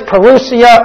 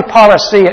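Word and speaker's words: parousia: end of the age the word is perusia or paracia probably paracia is the better pronunciation but perusia is what you'll hear in many circles both I guess are acceptable the word is talking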